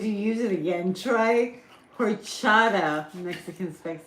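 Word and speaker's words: horchata: use it again try horada Mexican spec says what what what's a that's what it's called h o r c h a t a horada orada do you not pronounce the h what would that be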